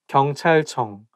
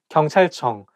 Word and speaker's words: 경찰청: 경찰청, police department. 경찰청, police department. So I think it's because CH sound, like when it's placed next to each other, I think it's going to make the word not easy to pronounce.